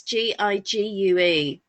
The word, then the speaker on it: Gigue: number 6, and I don't know if it's pronounced Gigue or Gigue. It's Gigue.